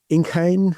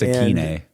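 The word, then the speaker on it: Ikhine: Yeah, Nick Westbrook at Inkhain, I think you say his name. it's Akeine.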